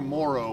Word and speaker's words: morro: They're spelled like a Morro, but it's in Portuguese it's Morro.